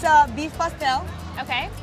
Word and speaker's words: pastel: this it's called a pastel that's how we pronounce pel pastel it's a beef pastel okay right it's basically a uh flour FL